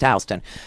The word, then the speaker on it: Houston Street: Houston Street okay it spells Euston but it's pronounced Houston south of Houston Street is it it used